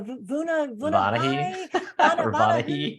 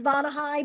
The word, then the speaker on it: Vonahi: and it's funny because they always butcher the name. They're like the Vonahi. And I'm like, it's Vonahi, but I know who you're talking about.